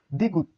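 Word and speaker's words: 디귿: এটি দ্বিগুত, দ্বিগুত। প্রথমে থ, মাঝে দ, নিচে ত উচ্চারিত হয়। এটি রিউল, এটির উচ্চারণ রিউল।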